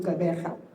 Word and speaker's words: Gqeberha: This historic match will take place on Saturday the 12th at the Nelson Mandela Bay Stadium in Gaba. Notice that I pronounced that properly.